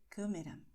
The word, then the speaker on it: câmera: And if you have the vowels e o with circunflexo, the sound will be close. So you say câmera. Okay, my mouth is, well, not so open.